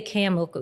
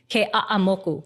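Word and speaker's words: Keʻeaumoku: of So it was Keaauamoku, but it's not that bad, but it's like every syllable has to be pronounced. Even like you can't say Keaamoku, it's Keaauamoku. So everything is so uh cut up, right?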